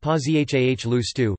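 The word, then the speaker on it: Пожалуйста: Spasibo, pronounced Spuhciba, Spsib, please equals Pozhaluste, pronounced Pozhahahlustu, Pialst, my name is, equals Mina Zovet, pronounced Menya Zavut, Mnazvut, what is your name?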